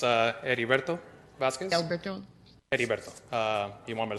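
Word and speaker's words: Heriberto: your first name again Mr Boss it's uh ediberto Vasquez uh you want me to spell it out or h-e-r-i-b-e-r-t-o thank you you're welcome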